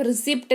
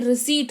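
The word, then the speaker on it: receipt: खुद भी सही करो, उनको भी सही कराओ कि भाई साहब रिसिप्ट नहीं रिसीट होता है, ठीक है।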